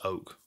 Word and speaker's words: Ok: person to deal with i was saying ok in the breakdown it's oak i need to get